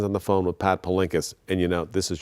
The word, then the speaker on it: Palinkas: Miss Palinkas, am I pronouncing it? Palinkas, yes.